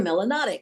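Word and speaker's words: melanic: you have a lot you're melonic which rhymes with exotic and the word melonic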